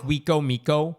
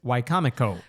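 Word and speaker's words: Wicomico: It's called Wcomo. I think I'm pronouncing that one right. It looks like Wiko Miko on paper, but it's Wcomo.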